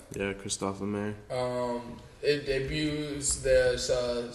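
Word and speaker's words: Christophe Lemaire: done by Christopher lemair is that how you pronounce his name yeah Kristoff L mer um it debuts their uh spring summer 2019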